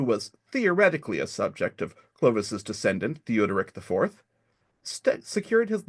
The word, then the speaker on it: Clovis: bapt baptizing their King Clovis a name which today is pronounced more like Louie which you and you'll